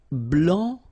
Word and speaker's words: blanc: Okay, so here masculine, blanc, don't pronounce the final C, and then blanche.